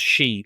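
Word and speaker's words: síd: she it looks like sid with a father on the i but it's pronounced she like she for a woman which is interesting but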